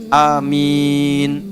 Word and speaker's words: amin: Bisa dua cara. Yang pertama panjang 2 harakat, A-nya, min-nya panjang. Amin.